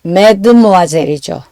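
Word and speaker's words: mesdemoiselles: 소유형사 마은 메로 드모아젤은 s가 붙어서 어 메드모아젤이죠. 어 소형사 복수에 이제 s는 발음이 나지 않으니까요.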